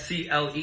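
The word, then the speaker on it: clé: And there there's no F because it's not cleft. It's cle.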